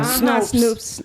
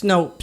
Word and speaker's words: Snopes: Snoops. Yeah. Is it Snopes or Snoops? I think it's Snopes. Anyway, it's spelled Snopes. So Snoops would be with probably two O's instead of one, right?